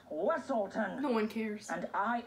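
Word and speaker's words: Weselton: And we shall send you straight back to Weaselton. It's pronounced Weaselton.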